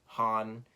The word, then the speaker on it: Han: It's Han, by the way.